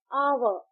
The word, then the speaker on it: hour: आ एच ओ यू आर आवर जब हम इसे प्रोनाउंस करते हैं तो ओ यू आर आवर प्रोनाउंस करते हैं। यहां एच साइलेंट है।